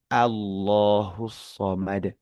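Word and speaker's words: اللَّهُ الصَّمَدُ: Nah, itu juga perhatikan bahwa huruf ee ketika pengucapan Allah shakan kita bacanya itu A bukan O. Allahu bukan. Tetapi justru yang lebih tepat adalah Allahus somad karena itu a a ya a gitu tidak akan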